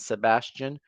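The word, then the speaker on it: Sebastien: and Sebastian. It has an E instead of the A, but it is also pronounced how you're used to it being pronounced.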